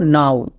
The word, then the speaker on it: now: আরেকটি ওয়ার্ড দেখো, যেমন NOW, এর উচ্চারণ কি হবে, নো নাকি নাউন? এখানেও আমাদের OW আউ সাউন্ড দেবে, আমরা নো করব না, এর উচ্চারণ করব নাও।